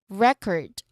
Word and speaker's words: record: The stress sits on the first syllable because that's what um that's what we are naming a thing, an object, a noun.